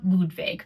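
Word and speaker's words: Ludwig: It's pronounced Ludvig because they're fancy.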